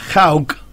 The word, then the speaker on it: Hawk: El casco era Hawk. Sí. Se escribe H-A-W-K.